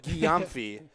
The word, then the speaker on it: Guillaume: before the game and i was told it was guillaumphey that's 23 in white jessie guillaume the running back nice